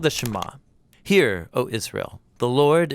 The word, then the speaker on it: Shema: is hear or listen which in Hebrew is pronounced shama that's where the prayer gets its name now